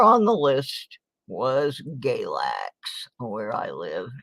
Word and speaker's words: Galax: And number 4 on the list was Galax, where I live. And it rhymes with X-Lax for a reason.